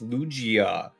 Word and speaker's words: Lugia: It's Lugia.